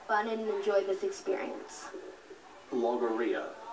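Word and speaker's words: logorrhea: is to have fun and enjoy this experience logia logia am I say pronouncing the word correctly yes logia l o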